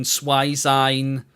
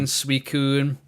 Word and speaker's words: Suicune: But anything that was a mispronunciation, Swizine, Suicide, Suicune.